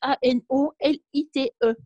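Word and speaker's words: anolyte: Ah oui, alors là, ça s'écrit Marie-Christine, ça s'écrit A-N-O-L-I-T-E.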